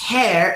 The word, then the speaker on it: heir: And the word heir in this context, hare, is very similar to this word, hair.